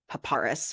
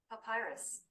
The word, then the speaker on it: papyrus: Google just told me it is not paparis because that isn't how you spell it Papyrus Papyrus Papyrus there's there is no R before the Y pyus yes but you're